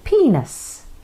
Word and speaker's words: penis: of different names too although it is spelt penis you say penis like peanuts but without the T so that's what the